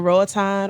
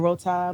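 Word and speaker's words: Roatán: So we went to Roatan or Rotan, whatever, who depends on who says it, how they say it.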